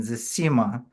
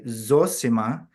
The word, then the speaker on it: Zosima: of of Zima and if you ask any Russian they'll tell you no way can it be anything else other than Zima that I've spoken with because that's how it sounds to a Russian year but the P the place where where Zima comes from they right which meaning they they pronounce their O's rather than reduce them uh and there's that